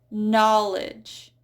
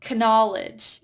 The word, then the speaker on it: knowledge: And for the silent K, we do not pronounce K when it's followed by N. So we have knife, knee, knowledge. So it's not knife, knee, knowledge.